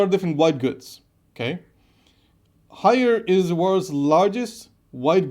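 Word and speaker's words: Haier: Hire is I don't know exactly how to say it, but it's HAIAR, so Hire.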